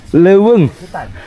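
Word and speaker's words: leuweung: Ternyata kan kayak ada digabung ya, E sama U itu. Ya, itu di Sunda tuh kayak ada jadi dibacanya Kalau EU, sama aja ya kayak. Terdengar sama.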